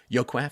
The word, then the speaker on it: Joaquin: In 2003, 70% of the 2,300 babies born in Stockton's San Joaquin. Yaquin? I should know this. I'm so sorry. I normally check the pronunciations before these shows. Joaquin, Phoenix.